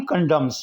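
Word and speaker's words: condemns: करना कंडोम party कॉन्डम्स कॉन्डम्स में N silent है लिखा जाएगा लेकिन बोला नहीं जाएगा पार्टी कॉन्डम्स पार्टी के रहनुमा ने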